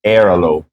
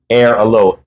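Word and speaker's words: Airalo: it's spelled I mean if I was saying it as a gringo is air Alo there you go air Alo a i l o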